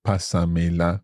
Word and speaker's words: pásamela: But pásamela, all running together. That means pass me it. And the pasa has an accent. Exactly. Okay. So that's to maintain the stress on that first syllable.